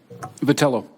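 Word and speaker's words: Vitiello: Have I pronounced your name correctly? Vitello.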